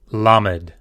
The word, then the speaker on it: Lamed: Lamed.